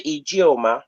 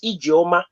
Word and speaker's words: Ijeoma: Let no one alter your name. If your name is Ofoma or Ijeoma, is Ijeoma. Don't let somebody say Ijeoma. No, Ijeoma is not your name. Your name is Ijeoma. It has to be pronounced in the context of your culture.